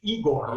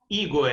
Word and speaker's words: Igor: But in reality, my name is pronounced with the very, very soft last letter. Okay. Very, very soft last letter, which is Igor.